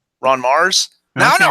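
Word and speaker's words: Ron Marz: Ron Mars? Okay. Now I know how to say his name because I interviewed him before. It's not Run Marts.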